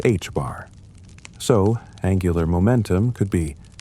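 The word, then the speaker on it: ħ: An electron could only have angular momentum values that were integer multiples of h divided by 2p, the quantity now written as h bar and pronounced h bar.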